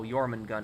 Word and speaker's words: Jormungand: Jormungand pronounced with a Y. Oh, Jormungand, right.